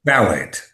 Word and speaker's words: phthalate: Well, that's salt, but anything that says the word phthalate, and that's spelled PHTH. It's one of those crazy words, a phthalate, if you want Yeah. it, but it's phthalate, PHTHALATE.